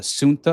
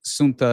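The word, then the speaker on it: Ceuta: geography uh it's it's it's basically pronounced uh Suna I believe uh is is how it's pronounced if I remember correctly.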